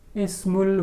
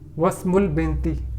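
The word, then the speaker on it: اسم: As here the sentence is beginning, so Hamza will be pronounced Ismu. But here this word comes in the middle of the sentence, so while pronunciation this Hamza will be dropped, so it will be pronounced as Wasmul binti.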